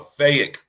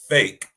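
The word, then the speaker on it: PHEIC: it one more time y'all a fake pronounced fake applies to an extraordinary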